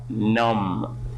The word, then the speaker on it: numb: is the meaning of numb B is silent in here plumbing listen to this